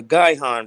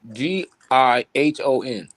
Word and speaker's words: Gihon: you can you type up the word uh guy han real quick let's spell it g-i-h-o-n and can you pull it up in the